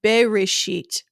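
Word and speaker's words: בְּרֵאשִׁית: This would be pronounced Bereshit, B-E-R, not B-A-R.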